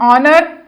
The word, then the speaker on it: honor: Like an honor, an or. We can hear the sound of o here. So that's why we have used n here, because the h is silent in both words.